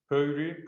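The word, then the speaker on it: Pöyry: uh swedish origin with puru pronounced in the finnish way with at least we've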